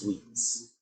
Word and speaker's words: suites: That word is pronounced suites.